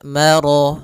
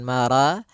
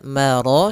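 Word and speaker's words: مَرَجَ: atau di antara keduanya maka rya tebal maro bukan mara tapi Ya, maro sempurnakan lafal rya marajal.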